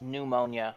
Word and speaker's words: pneumonia: two more years but by the way that's pneumonia Matt I've heard it pronounced both ways yes but that's the